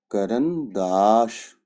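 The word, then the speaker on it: карандаш: क, आ, एर, आ, एन, द, आ, श, करनदाश, करनदाश। यहाँ पे ये दो जो आ है ये अनस्ट्रेस्ड रह गए और लास्ट वाला आ स्ट्रेस्ड है, तो इनका प्रोनाउंसिएशन देखिए, करनदाश, करनदाश।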